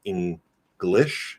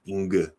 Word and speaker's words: English: a sound cluster and now it's like in glish not inge so there's a bit